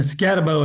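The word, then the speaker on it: Skattebo: wrong about that that was embarrassing and the scabo is how you say his name anyway scabo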